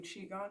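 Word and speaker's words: qigong: have those typically um we do qigon here so uh it's spelled q-i-g-o-n-g um in the title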